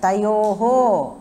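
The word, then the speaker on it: तयोः: இப்போ இந்த ரெண்டாவது லைன்ல வந்து தயோஹோ அப்படினு சொல்லணும் அந்த விசர்க இருக்குல்ல ஏன்னா அது பக்கத்துல இருந்து க்ஷா வந்ததுன்னா அந்த விசர்கவை வந்து நம்ம ஃபுல்லா ப்ரொனவுன்ஸ் பண்ணனும் இல்லனா ப்ரொனவுன்ஸ் பண்ண மாட்டோம் ஜெனரலா பார்த்தோம்னா இது வந்து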